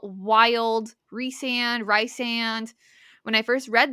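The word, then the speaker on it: Rhysand: It was always rice sand, but I would always say Reese. I wouldn't call him Rice cuz I'm like, "That's weird." Rice, but it it's Yeah, it's Reand.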